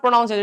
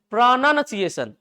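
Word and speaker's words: pronunciation: कम से कम इस वर्ड का उच्चारण सही करना, क्या लिखा है ये, इट इज नॉट प्रोनाउंसिएशन इट्स प्रोनाउंसिएशन। लिख दूं क्या मैं, प्रोनाउंसिएशन।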